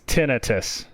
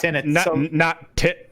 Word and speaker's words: tinnitus: How is it pronounced? It's tinnitus. So not tinnitus.